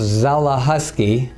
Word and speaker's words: Zelechoski: Zelechoski, and I practice internal medicine here in Evangelical. My name is pronounced Zelechoski. The C is silent like the P in swimming.